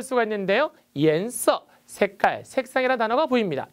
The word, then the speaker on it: 颜色: 颜色, 색깔, 색상이라는 단어가 보입니다. 이때 발음이 중요한데요. IAN은 YAN으로 바꿔서 이안이라 읽지 않고 EN으로 읽는다는 불규칙이라는 거 정리해 두시기 바랍니다.